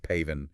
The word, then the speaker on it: PAVN: the North Vietnamese, the PAVN, pronounced paven, and the Vietkong.